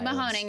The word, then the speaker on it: Mahoning: Is it Mahoning County? Mahone County. Sorry. Oh, no, Mahoning. You're right, Whatever.